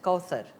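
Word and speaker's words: Kawthar: matches or not exactly it's actually an arabic name it's pronounced as kauthar and it is in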